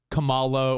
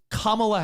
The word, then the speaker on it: Kamala: vice president kamala harris if i hear one more person be like kamala or not the wrestler with the stars on his nipples kamala it's kamala harris is that really that